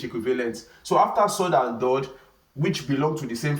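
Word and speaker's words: ضاد: So the same thing applies to dod. So dod is spelled D-A-A-D. Dod. Dod. So we have sword, we also have dod. So these are heavy letters. When we pronounce them from what? From our throat.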